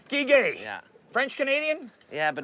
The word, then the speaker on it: Guiguet: How do you pronounce that last name again? Guiguet. Guiguet.